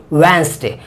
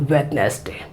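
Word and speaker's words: Wednesday: यहां पर यह केवल एक वैन स्ट्रैट ठीक वेनसडे आप प्लीज वेस्ट की गलती करते यह गलती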